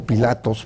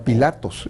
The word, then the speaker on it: Pilato: diversas escuelas de latinistas la escuela alemana por ejemplo señala que debe pronunciar pilato no pilatos esa es una versión un poco más española o italiana de la traducción y tenías que necesariamente